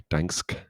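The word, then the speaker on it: Gdańsk: Dansk, I think that's how you say it with Dansk with a G at the start as you do.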